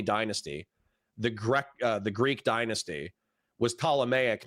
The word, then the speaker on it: Ptolemaic: And I think I said like the Ptolemaic dynasty. And then what's his face? The fuckstick from last night said, oh, it's pronounced Ptolemaic.